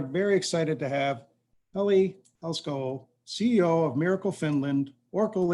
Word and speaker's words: Helskyaho: Everybody knows me as Heli from Finland because my last name is quite impossible to pronounce. It's actually pronounced Helskyaho, which is not easy for anybody.